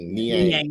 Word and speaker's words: Niang: I'm mispronouncing his name. Niang.